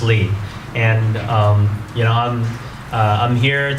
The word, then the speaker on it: Ly: Ly is Lee, it's French. And so that's the reason why I write Ly, just like many of you, right? People forget that. It's pronounced Lee.